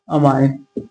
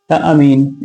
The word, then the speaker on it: amine: तो देखिए सबसे पहले नेमिंग ऑफ़ आईयूपीएसी लिखिए IUPAC nomenclature nomenclature of अमाइन अमीन ऐमीन कुछ भी पढ़ते हैं। तो अपने-अपने प्रोनाउंसिएशन के बेस पे होता है।